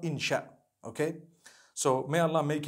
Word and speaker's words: insha: inchi means to create no one says inshi Allah they say insha Allah that's what it